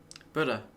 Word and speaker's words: Buddha: The American girl seems to pronounce the U quite firmly.